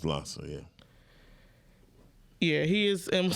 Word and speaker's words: Lasher: Lasser? That's Bright. I don't know. Is it Lasser or Lasher? It's Lasser, actually. Lasher. It's Lasser. Lasher. It's spelled L-A. S-H.